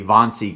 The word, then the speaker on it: Wannsee: It'd be Wannsee Conference, but it's spelled W-A-N-S-E-E, I believe.